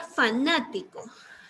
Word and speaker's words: fanático: Vamos a ver la palabra fanático. La sílaba más fuerte es na.